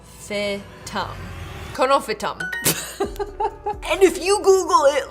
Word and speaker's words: Conophytum: How to pronounce? Conophytum.